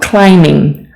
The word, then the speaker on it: climbing: biking surfing surfing rock climbing rock climbing you don't need to pronounce the b okay let me actually change the color here for you to remember that climbing the B is silent bowling bowling don't say